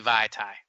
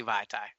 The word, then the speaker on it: Vaitai: And so I looked it up, and I'm looking at the pronunciation right now, Halapuli VT Vaitai.